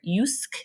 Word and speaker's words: Jysk: example is Danish retailer yusk is how you say it but it's JYSK H and I actually